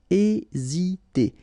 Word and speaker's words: hésiter: Remember, H is not pronounced, so first letter here is E. Hésiter.